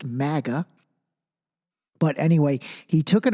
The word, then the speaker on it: MAGA: these first of all anyone who pronounces it MAA you don't even you obiously don't even know it well enough to pronounce it correctly it's pronounced Maga but anyway he took